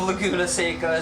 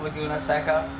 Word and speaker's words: Laguna Seca: 2 hours of Laguna Secika is torture. I still say Laguna Secika even though like literally two nights ago my best friend informed me that it's actually pronounced Laguna Seca also.